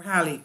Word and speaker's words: Halley: And for those looking for help with pronunciation, the name traditionally rhymes with the word valley or Halley.